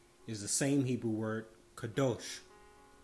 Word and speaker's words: kadosh: the same hebrew word kadosh or some will pronounce kadash it means to be